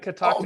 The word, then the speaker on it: Catoctin: Catoctin.